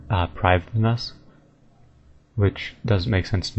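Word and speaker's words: Prifddinas: wiki um but either way I fa it pronouncing it correctly it's uh priv us which doesn't make sense to me I I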